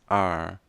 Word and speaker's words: are: Não pronuncia a letra E no final de palavra, então temos apenas are. How are? Enrola a língua para trás.